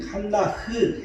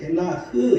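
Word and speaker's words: חנה: 이 한나라는 이름은 이 한나흐, 헤나흐 이렇게 발음하는데 은혜라는 의미를 가지고 있습니다.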